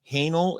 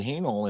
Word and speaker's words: Haehnel: And is Haehnel, is that the right way to pronounce it? Correct. It is Haehnel, yes.